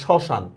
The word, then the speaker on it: শ্মশান: শব্দের শুরুতে ম ফলার উচ্চারণ হয় না। দে শ্মশান। দেখেন ম ফলা আছে কিন্তু ম ফলার উচ্চারণ হচ্ছে না।